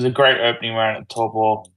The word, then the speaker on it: Taupo: Nah, it was a great opening round at Taupo, which is how you pronounce it, by the way.